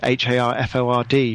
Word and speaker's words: Harford: thing to mention is half it is is spelled harf Ord not Hartford and not a town in Connecticut or Harvard yeah I wish I